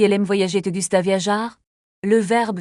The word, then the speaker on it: viajar: Te gusta viajar? Le verbe viajar se prononce avec un R bien roulé.